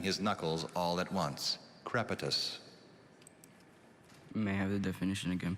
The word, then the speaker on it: crepitus: thank you hi nathaniel hello your word is crepitus you may have all the information please crepitus